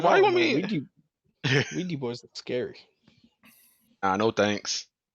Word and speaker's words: Ouija: It's Ouija. Ouija. But it's doesn't it like spell? Isn't it spelled with an O? Like It's more like orgy, oigi, but it's Ouija. Yeah, it's OUI. It's we, right?